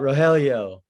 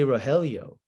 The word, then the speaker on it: Rogelio: it's me i'll go ahead and yell out rogelio and they're like okay hi how do you